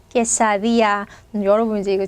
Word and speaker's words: quesadilla: 퀘사디아, 퀘사딜야, 이렇게 되게 많이 다양하게 써 있는데 정확한 발음은 뭐예요? 얘는 깨입니다. 깨사. 자, 여기 L 두 개 있는 거 절대 리을 발음이 아니라고 했죠? 자, 그리고 앞에 발음하고 전혀 상관없습니다. D 끊고 뒤에서 그냥 야입니다. 야, quesadilla.